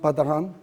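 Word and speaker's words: Patarin: So this is French, so it's pronounced Patahan.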